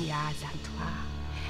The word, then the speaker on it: Yaa Asantewaa: I'm going to say it right. You've got to say it with the rhythm. I am Yaa Asantewaa.